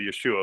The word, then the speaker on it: Yeshua: Well, Yeshua, of course, is the probably the Aramaic or correct pronunciation of the name Jesus, and is indeed, the